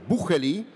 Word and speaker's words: Bucheli: First of all, thanks very much, not only to Monsieur Bucheli, which is the right pronunciation of this wonderful Swiss name, but also to Mr.